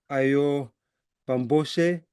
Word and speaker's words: Ayọ̀ Bámgbóṣé: very excited to introduce uh Our Guest Professor AO bambos do I pronounce it well yeah yeah who is renowned